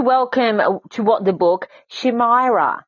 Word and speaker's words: Shimaira: yeah i did yeah well you pronounce it differently in dutch but when i speak english i also say my my name in an english fashion so shimaira how would i pronounce